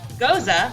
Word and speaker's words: Gose: them so history of goza goza that's german is a traditional sour ale pronounced goza like mimosa it is an unfiltered